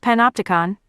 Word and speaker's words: Panopticon: It’s pronounced Panopticon.** So the third theory is this guy, Ben